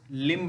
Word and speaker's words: limb: किसी भी शब्द के अंत में यदि एम के पश्चात में बी पाया जा रहा है तो वहाँ पर बी का प्रोनाउंसिएशन नहीं करते हैं।